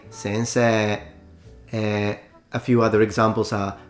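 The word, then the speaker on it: 先生: For instance, the Japanese do spell the word sensei like this, but they usually don't pronounce it sensei. They usually say sensei.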